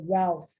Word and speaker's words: Ralph: I think we say Ralph, but the British say Ralph. They don't pronounce the L.